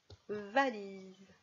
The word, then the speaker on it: valise: Alors, va, li, oh, z, bien sûr le S qui zozote, z, valise, et en attaché, le V